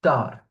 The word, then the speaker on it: tard: So I'm not pronouncing the S, I'm not pronouncing the D, so I think I don't need to emphasize that. So the T here is not pronounced also, but here the R is pronounced.